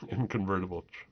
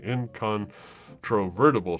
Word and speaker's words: incontrovertible: those long words man inconvertible incont no I was and I always say it wrong I always think I say it right and then I realized no I didn't even say it right incontrovertible truth nice there's an extra like group of syllable syllable in there um